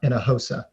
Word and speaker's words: Hinojosa: and i would say how do you say my name where do you get water from in a in a hosa right oh my god it's not quite in a hose but it's in a hosa and that's how the h is silent the j is like an h oh my god i've